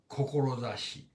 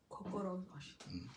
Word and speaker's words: Kokorozashi: Kokorozashi. Kokorozashi.